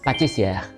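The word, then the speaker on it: pâtissier: 파티시에랑 우리가 얘기하는 그 파티시에가 이제 정확하게 발음을 하자면 파티시에 불어예요.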